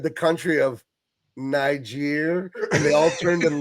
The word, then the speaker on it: Niger: Guys, it's a different word and it's pronounced differently. It's a onelet difference and it makes all the difference in the world. There's never been a more important G in the world, right, than that one right there.